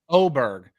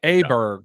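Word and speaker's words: Åberg: Is it Oberg? Because it looks like Aberg, but it's Oberg because it has the umlaut above it, right? Or some little dots. Yeah, there's like I'm not going to get into Swedish language, but it is weird to me if it's pronounced Oberg.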